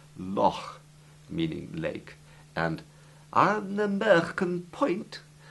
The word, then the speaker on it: loch: It's a guttural sound made from the very back of your gullet, as though you're trying to clear your throat.